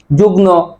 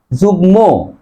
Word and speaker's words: যুগ্ম: পাগ্নিমি আরেকটা হচ্ছে যুগ্ম অনেকে উচ্চারণ করে যুগ্ন বলে যুগ্ন মহাসচিব আসলেই উচ্চারণ হবে কি যুগ্ম যুগ্ন নয় কারণ গ এর সাথে মর উচ্চারণ বজায় থাকে আর যুগ্ম উচ্চারণ কি